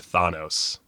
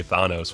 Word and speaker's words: Thanos: always mispronounces things, but I know a Greek guy named Thanos. And it breaks my brain because I always want to say Thanos when I'm doing these videos, but it's Thanos because Marvel decided it was Thanos.